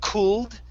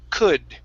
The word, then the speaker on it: could: have the word could instead of cooled okay the l is silent here it's could okay one more time